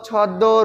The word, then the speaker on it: ছদ্ম: যেমন পদ্ম, ছদ্ম, রশ্মি, এই যে আমি তিনটা শব্দ উচ্চারণ করলাম, এই তিনটার কিন্তু একটার মধ্যেও মটা উচ্চারিত হয় না, কিন্তু সংযুক্ত ব্যঞ্জন বর্ণের সাথে কিন্তু মটা আছে।